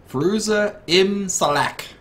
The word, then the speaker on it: Ferooza Ibm Salack: Ferooza Imb Shalack.